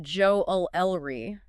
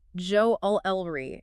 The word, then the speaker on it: jewelry: the world oh really in American English Joe o lry is more common okay I definitely hear that one more often but in British English Joe elry is the preferred pronunciation it's amazing how these